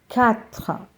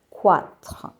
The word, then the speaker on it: quatre: Quatre and not quatre. QU together will be K.